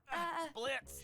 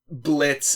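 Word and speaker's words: Blitzø: Blitz. The O is silent.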